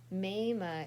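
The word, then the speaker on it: Maame: also we'll learn later maima is how you say mom in Twi which is the ghanian um uh language in Ghana my children glided on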